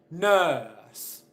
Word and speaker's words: nurse: finish explaining this point I don't pronounce the R sound in any of these words why not and what